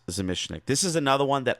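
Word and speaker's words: Zamecnik: I used to say Zemechnik, but it's pronounced Zemishnik.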